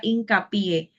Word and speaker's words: hincapié: última sílaba por ejemplo cuando usted escucha la palabra hincapié la mayor fuerza que hacemos Es en la última sílaba y como las palabras